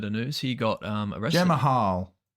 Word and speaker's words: Jamahal: Jamal Hill, we just saw this bit of news. He got arrested. Jamahal. Jamal. That's how it's spelled.